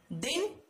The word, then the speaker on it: दीन: दिन का मतलब क्या होता है, दिवस, और एक होता है दीन, यानी इसमें मात्रा कौन सी है बच्चों, बड़ी की, और इसका मतलब होता है गरीब।